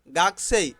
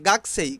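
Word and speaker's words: 学生: ছাত্র বা ছাত্রী স্টুডেন্ট গাকছে স্টুডেন্ট গাকছে স্টুডেন্ট এখানে গাকুছে কিন্তু জাপানিজরা উচ্চারণ করে গাছে গাছে গাছে গাছেই ছাত্র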